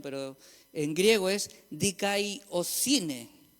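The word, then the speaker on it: δικαιοσύνη: Y aquí es un poquito más difícil la pronunciación, pero en griego es dikaiosine.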